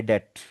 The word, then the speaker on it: debt: Does not पे माई डेट। डेट होता है, डेबिट नहीं पढ़ना, उसको डेट पढ़ना। डेबिट डिफरेंट वर्ड होता है, डेट बी साइलेंट होता है।